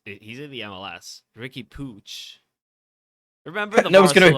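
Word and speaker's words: Puig: was like oh pooch he said pooch that was yeah that's how you pronounce it oh yeah if you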